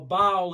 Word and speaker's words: Baal: cult in equivalent to baal or bowel is how sometimes you pronounce it which means lord many